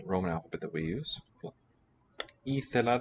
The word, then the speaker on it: ήθελα: Ήθελα, this is a long E vowel, which has become raised not from A anciently, or lower maybe, to a high vowel E.